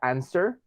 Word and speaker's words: answer: En el caso de la palabra answer, esta, hagan de cuenta de que la W no funciona para nada, no sirve. Es como si la W la elimináramos completamente. Answer, así tal cual. Se pronuncia de esa manera. La W que tenemos en medio no suena.